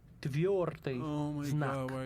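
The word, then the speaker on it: твёрдый знак: This letter is called Tviordeznak, which means hard sign. The first word of the name of that letter hits the accent on the first syllable. Tviordeznak.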